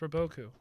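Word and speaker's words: Robot-Coupe: uh food processor brand that restaurants use it's pronounced roboku robot coupe it's pronounced rubble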